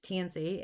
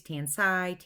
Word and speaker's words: Tansi: airport in Detroit and my name is tansy and it's spelled ta and si so people say it many different ways tan site and CT and Z several different ways and I had a